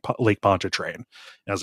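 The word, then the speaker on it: Pontchartrain: like okay now pronounce this word like Lake pona train I was like I cannot I I can't remind you enough I am a 16-year-old sir but I will pronounce this word and that's why pona train has been uh kind of pounded into my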